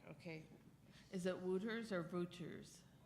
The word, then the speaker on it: Wouters: Is it Wouters or Wouters? With a V, but it's spelled with a W.